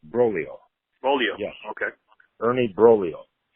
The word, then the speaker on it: Broglio: It's pronounced Broglio.